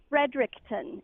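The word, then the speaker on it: Fredericton: New Brunswick I'm like frederickton is that how you pronounce it yeah you'd think the empress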